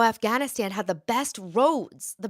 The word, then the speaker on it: Afghanistan: beautiful roads and but the way he pronounced it was aanan I didn't know what he was talking about for the longest time aanan but yeah Afghanistan that's how he would say it zolof helped you you